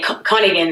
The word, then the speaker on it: Koningin: But yeah, Koningin is how you pronounce it.